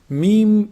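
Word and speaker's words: ميم: Meem is pronounced from the lips. When you bring both lips together, when you combine both lips together, when they close up, this is meem.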